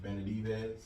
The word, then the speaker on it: Benavidez: I can't pronounce his last name. Benavidez.